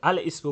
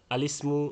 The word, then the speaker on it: الاسم: বললে অর্থাৎ এক কথায় দ্বিতীয় হামজাকে উচ্চারণ করলে এই যে আল বলার পরে ইসমু ইসমুর হামজা উচ্চারণ করলে তেলাওয়াতটা ভুল হবে এখানে ইসমু আল ইসমু এই ইসমুর হামজা তেলাওয়াতের ক্ষেত্রে উচ্চারণ হলে ভুল হবে বরং এই হামজার হরকতটা আগে চলে গেছে লামের ক্ষেত্রে এখন কেন এরকম হলো এই লামের নিচে যাওয়ার পরে লিসমু আলিসমু লিসমুল ফুসুক হলো এটা কেন হলো এখন